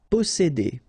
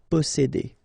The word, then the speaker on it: posséder: Posséder. All right, here remember one vowel, two vowels here, before and after, double S, really strong S. S. Posséder.